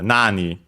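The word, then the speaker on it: 何: And by the way, uh nani on its own is accented on the first syllable.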